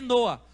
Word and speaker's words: Noé: Você sabe o que significa a palavra Noé? É Noa. Se pronuncia Noa, mas significa literalmente descanso.